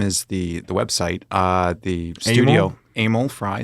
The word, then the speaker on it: Emil: The studio, Amel Frei. So it's just like Emily, but without the Y. So Amel is, some people pronounce it that way.